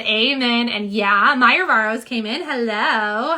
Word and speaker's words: Yeeauh: Tammy says it's pronounced like yeah.